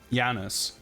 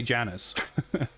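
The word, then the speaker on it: Janus: So in the film they say Janis which would be you know the close to how it would be pronounced in various languages including Russian I suppose.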